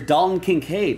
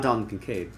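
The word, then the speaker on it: Dalton Kincaid: hockey player here's Rookie of the Year contenders D can cave who got traded today not D concave Pat L this will be for the bills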